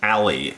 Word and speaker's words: Alley: Philip Alley, A-L-L-E-Y. That's the way I pronounce it.